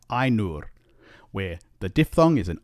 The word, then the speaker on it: Ainur: we get words like Ainur, where the diphthong is an I diphthong, and remember the R does not change the sound of the U, so it's Ainur.